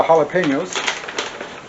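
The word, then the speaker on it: jalapeño: how to pronounce it it's Hal laeno jalapeno and I'm should be putting right where is it right here it should say the way to pronounce it ha laeno halap Peno that's it nothing fancy just real straightforward jalapeno so ha ha la la you know La pen like a writing pen a writing instrument yo halap Peno right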